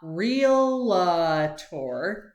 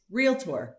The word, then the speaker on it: Realtor: of the first ones is how to actually pronounce real tour it's not real tour it's real tour like re e l t o r real